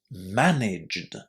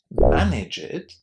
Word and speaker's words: managed: And you definitely don't want to say it like this when you want to say managed without that extra syllable.